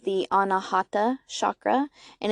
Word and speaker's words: anahata: forgiveness and for empathy and in Sanskrit it's pronounced the anahata chakra and it's also associated with unconditional love